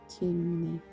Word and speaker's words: Ctimene: how do you pronounce that? Ctimene.